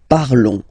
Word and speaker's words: parlons: Okay, remember final s is not pronounced. Okay, and then this on together, they will give you the sound on. Okay, nous parlons, nous parlons.